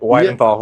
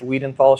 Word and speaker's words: Weidenthal: Widenthal. Widenthal talked about right before the show. So why why the name then? Go ahead and tell. Uh last names Weidenthal mispronounced Weedenthal shortened to.